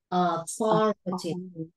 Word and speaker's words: authority: Authority. Authority. Very good, cắn lưỡi thổi ra nhé.